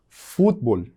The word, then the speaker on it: futebol: Por último, eu tenho aí a palavra futebol. Futebol. E futebol. Mesma coisa. Eu tenho fut lá em cima, no início da palavra, que é a sílaba mais forte, e no português eu tenho futebol lá no final da palavra.